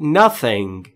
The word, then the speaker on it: nothing: Say nothing. Say nothing. Say یعنی گفتن. Nothing یعنی هیچ. تلفظ TH رو دقت بفرمایید. زبون پشت یا زیر نیش دندون بالا، سعی میکنیم بگیم سریا، میشه ثریا مثلا.